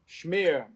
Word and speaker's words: schmear: Schmear, like a smear of Yes, just like a smear of cream cheese.